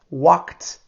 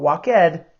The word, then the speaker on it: walked: leave behind the left behind walk out on walked out on so this is the tea pronunciation not walk EDD walked and this one is irregular so left